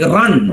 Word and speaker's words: run: For example, in a word like run, R-U-N, run, the R is pronounced.